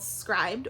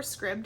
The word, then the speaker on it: Scribd: then finally i use an app called scribed or scribd i've heard it pronounced both ways this is a subscription